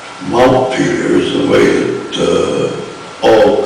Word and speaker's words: Montpelier: Notice that I say Montpelier. I do not say Montpelier. Montpelier is the way that all good Vermonters pronounce the name of the capital city.